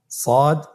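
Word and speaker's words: ص: মোটা হরফ উচ্চারণের ক্ষেত্রে মোটা করে পড়তে হবে এবং উচ্চারণ করার সময় তিন আলিফ টেনে পড়তে হবে।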